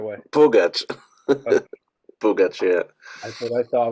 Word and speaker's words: Pugach: pronunciation of your last name proper can you pronounce it for me the right way pach pach yeah I thought I want to be